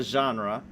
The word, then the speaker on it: genre: not of the genry they pronounce a lot of things in this game wrong they call it the corpse instead of the core the genry instead of the genre like i i've never heard it both ways this is